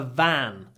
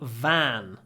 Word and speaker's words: van: Фургончик is a van. He's got his own little van. And that is another of these difficult words where we have a smiley v. Van. Hold the v. Van.